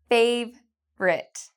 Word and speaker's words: favourite: "Favourite", "favrite", "yêu thích".